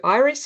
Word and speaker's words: Iris: My name is Iris and I also react to Iris if you want to pronounce it that way.